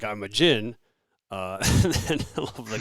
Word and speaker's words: Djinn: But then Jin is, and that's spelled Djinn.